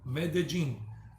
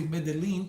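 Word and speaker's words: Medellín: medellin medellin of course people that don't know spanish would say mendeline because the double l people would just say lean but it's double l in spanish in most spanish-speaking countries it's pronounced j like in the junkyard dog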